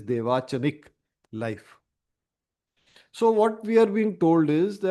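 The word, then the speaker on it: Devachanic: chanik life I'm sorry I was mispronouncing I was saying dwanchik it is dvachanik life so what we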